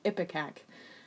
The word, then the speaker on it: ipecac: started using an emetic I don't know how you say it ipecac or something I just googled it it's epic AK it was just like